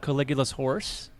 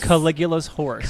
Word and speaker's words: Caligula's Horse: But I was, listening to a lot of Caligula's Horse and a lot of That's a band? Yeah, that's a band. Say that one more time. Caligula's Horse.